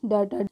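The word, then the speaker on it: daughter: है क्या पढ़ेंगे इसको क और टी जीच जो होता है वो साइलेंट होता है मैंने कई स्टोरी वाली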